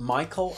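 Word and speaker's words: Mychal: no oh my God he's called Michael I think I'm pronouncing that right well it's m y c h a l now he's this guy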